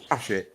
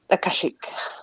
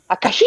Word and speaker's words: Akashic: Ashik. Is that how it's pronounced? Akashic. Well, Yeah, it's spelled it Ashkaic, so... I don't know how it's pronounced. I just make it up. Akashic. Yeah, that's it. Yeah.